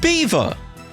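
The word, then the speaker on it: Belvoir: And the word beaver, not beaver as in like the animal. It's B-E-L-V-O-I-R. That's pronounced beaver.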